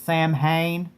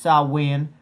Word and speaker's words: Samhain: Now, when you look at the word, it looks like it's Samhain, but it's pronounced Samhain. Kind of like Versace and Versace.